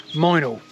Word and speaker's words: Mildenhall: or perhaps closer to Mildenhall, or as the locals call it, Minal.